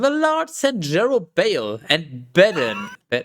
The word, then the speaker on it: Bedan: And the Lord sent Jerubbaal and Bedan. B-Day. It's pronounced B-Day. Bedan. Oh, it's Can we do a petition to ban cat peasant?